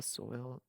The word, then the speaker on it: Soil: the city 1714 the soil stradivarius pronounced swallow violin is created by